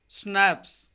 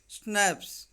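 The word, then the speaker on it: Schnapps: Here you can see a German drink made from grain, pronounced snaps. इसको जो हम पढ़ेंगे, इसका जो प्रोनाउंसिएशन है snaps.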